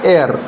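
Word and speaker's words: heir: एच आई ई आर एच आई ई आर इसको पढ़ेंगे एयर क्या पढ़ेंगे एयर ठीक है और ये एयर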